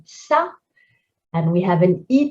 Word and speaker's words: ça: regarder, étonné, élégante, raffiné, a softened C. Instead of K, this cédille makes us say ça.